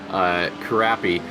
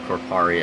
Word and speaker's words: Karapi: Karapi, not Korpari, as we suspected earlier, is getting around lap traffic.